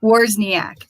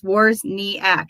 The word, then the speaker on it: Wawrzyniak: As I stumble over my words, Wawrzyniak, 3 syllables. Wawrzyniak. That's how I teach it to my kids. Wawrzyniak.